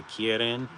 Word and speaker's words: kirin: And it flies a keen k uh in in Japanese it's a kirin.